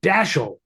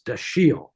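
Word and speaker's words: Dashiell: both dashel Hammond but dashel with that hard emphasis on the dash is is really not working it's dasi which is French and um you know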